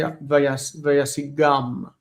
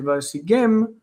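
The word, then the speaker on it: וַיַּשִּׂגֵם: But the perfect uses So here you've got the imperfect with m, vayasigem. You don't want to say vayasigam. Okay, you want to say vayasigem because it's the imperfect.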